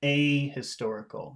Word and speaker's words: ahistorical: and E ticket you emphasize the a in a word like this when a means not a historical you have to say that really big oh I've lost my